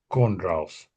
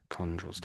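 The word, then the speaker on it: chondrules: But this is one of those words where you sort of miss out the h.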